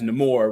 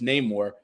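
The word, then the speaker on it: Namor: stuff because I don't I mispronounced his name as neore when it's name more but I read Comics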